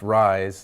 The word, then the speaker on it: Reye's: re ye s but pronounced rise like I rise in the morning and this aspirin at